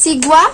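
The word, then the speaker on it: xigua: তো যেটা অনেক রিসার্চ করার পর পেয়েছি যে তরমুজকে সিগুয়া বলে, এক্স দিয়ে স্টার্ট হয় কিন্তু এক্স উচ্চারণটা হয় না, এস উচ্চারণ হয়।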